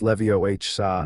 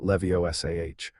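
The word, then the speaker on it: Leviosa: You're saying it wrong. It's<unk> Levioh saw, not Levioh.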